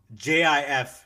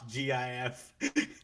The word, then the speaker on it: GIF: When And so like he came he came out and he's like it's pronounced Jif, not GIF.